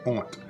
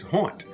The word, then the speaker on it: honte: On prononce ça plus souvent honte que honte. On prononce le H dans le français louisianais.